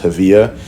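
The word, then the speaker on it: Hevea: made out of uh what's called heavia, or I've heard it pronounced havilla.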